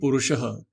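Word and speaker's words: पुरुषः: acharan karma param apnoti purushaha. A person, a purush. So purush here is purushaha. So pu is a long u here, long u, but usually purush is written with small u.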